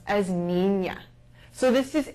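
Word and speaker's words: niña: known as a finding it is pronounced like an ny sound nea and this can be seen in the word or girl or boy this is pronounced as Nina so this is n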